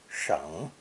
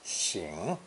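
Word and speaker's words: 省: Cataracts and poor eyesight lead to squinting to see clearly, so the other definition of sheng, sometimes pronounced xing, is to examine carefully, to scrutinize.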